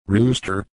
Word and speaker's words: Rust: Ruster is pronounced rooster, like the bird, and it simply means that the wine comes from the town of Rust, pronounced roost, in the Burgenland region of Austria.